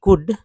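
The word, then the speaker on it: could: करिए वेयर वेर वेयर ही कुड इस L silent है एल जो है यह जो है साइलेंट है एल जो है साइलेंट लेटर है तो कुड पढ़े कुड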